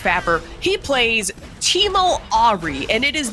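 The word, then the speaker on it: PHapper: not, it's spelled, okay, I say it P-Happer, it's pronounced Fapper.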